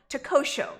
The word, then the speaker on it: Tehuatl: So we're going to be talking Takosho. Did I pronounce that correct? Yes, you did.